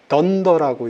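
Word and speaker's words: dunder: 앞에 언더스코어 2개, 뒤에 언더스코어 2개 이렇게 붙는데 요건 더블 언더스코어라고 그래서 던더라고 읽어요.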